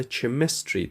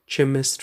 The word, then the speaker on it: chemistry: زیادتر دوستای ما لغت chemistry تلفظ میکنن که کاملا اشتباه است. chemistry نیست. chemistry تلفظ کنین دوستای عزیز.